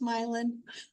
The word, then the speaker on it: Milan: I am the English language coordinator for Milan area schools, and it is pronounced Milan. I know it's spelled like Milan, looks just like Milan, but we say Milan here.